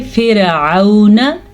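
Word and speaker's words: فرعون: र पूर पड़ी जाएगी लेकिन अगर रा साकिन से पहले जेर आ जाए तो रा बारीक पड़ी जाएगी इसको हम पढ़ेंगे फिरन ठीक है आइन के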